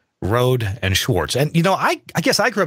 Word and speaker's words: Rohde & Schwarz: So twice now you have said Rohde and Schwarz.